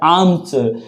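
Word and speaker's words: arms: ठीक है, इसको आर्म्स नहीं बोला जाता बेटा, इसको बोला जाता है आर्म्स, क्योंकि इसमें रहता है आर साइलेंट। कभी भी आर्म्स मत बोलना, इसको बोलना है आर्म्स।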